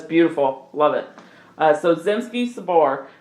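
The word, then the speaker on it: Zemsky Sobor: love it uh so zimski Sabor which by the way I've actually spent some time figuring out how to properly pronounce some things that's what yes uh yeah that's and that is how you say it based on my internet searches so zimski Sabor uh directly translates to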